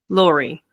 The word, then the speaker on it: Laurie: Is your name pronounced Lori or Lori? Lori.